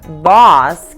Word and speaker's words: boss: Agora, já na palavra boss, que é chefe, você abre a boca e faz o som do O.